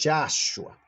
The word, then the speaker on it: Yahshua: la E y que ya no me gusta pronunciar porque ya lo dije, me gusta pronunciar la A, ¿no? Repitamos todos Yahshua, Yahshua Cristo en todo caso, ¿no?